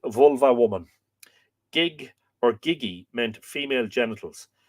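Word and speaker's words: gigh: The sacred harlots of the temple were known as Nu Gig, N-U-G-I-G. It's interesting because if you lenit that, the word gig, what you get is G-I-G-H, which would be pronounced gi.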